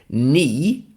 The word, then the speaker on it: knee: And I'm going to spell it ni as in the body part. If you know what that is, spelled K N E E. So there's a silent K.